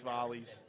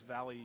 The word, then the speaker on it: Vley: And Lewis Valley is what the pronunciation and Georgia Valley is what the pronunciation has been today. And it's actually Vley.